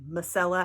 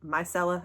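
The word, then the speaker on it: Mielle: is their Mella water I always say Mella accidentally I'm trying to remember to say myella I don't know why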